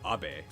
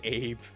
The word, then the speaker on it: Abe: Abbe. It's spelled the same in English, but it's not pronounced Abe.